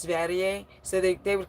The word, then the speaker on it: Sverige: His name is is it's Sweden in Swedish which is Sverige, but people didn't know that it's pronounced Sverige. So, they they would call him Sverege or Sverege.